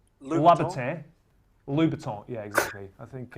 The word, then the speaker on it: Louboutin: It's Christian Louboutin.